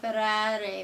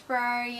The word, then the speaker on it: Ferrari: We went to Modena to view the Ferrari Museum. You gotta pronounce all 3 of the R's according to the Italians.